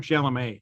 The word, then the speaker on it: Chalamet: Yeah, did I say his name wrong? Chalamet.